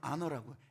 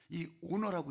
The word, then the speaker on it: honor: 죽어야 돼 존중 존중 영어로는 아너라고 honor이 오너라고 있기도 하지만 아너라고 그렇게 발음을 해요 그래서요 미국 영화나 아니면